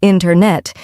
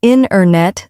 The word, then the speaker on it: internet: great example is internet we don't usually say internet instead we say inet the t- sound gets softer or disappears that's so true and